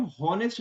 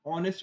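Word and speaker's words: honest: क्योंकि बोलते समय हम होनेस्ट नहीं बोलते। हम ऑनेस्ट बोलते हैं। ऑनेस्ट यानी ईमानदार। ठीक है? तो क्योंकि ऑनेस्ट में एच साइलेंट होता है और वोवेल साउंड से शुरू होता है।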